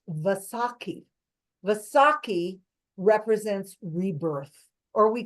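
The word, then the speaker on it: Vaisakhi: Last week was also the celebration of the sick festival of let me see I don't want to mess up the pronunciations. It's Vasaki.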